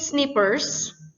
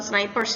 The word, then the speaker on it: Snippers: Weasley Snippers, teruntuk Tuan dan Nyonya Weasley Snippers. Ini bukan snipers ya guys, beda. Ini snippers bacanya.